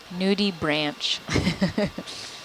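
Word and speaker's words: nudibranch: Nudie branch. But yeah, it's pronounced Zoom in.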